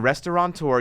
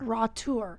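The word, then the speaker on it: restaurateur: If you type in restaurant tour, you're going to get a squiggly red line under it. It's restaurant restaurant tour. Rout tour.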